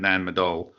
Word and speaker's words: Nan Madol: And I still said it wrong, but it's Nanmadol. Oh, I got it right. Okay. Ta-da! Yep. Is my pronunciation.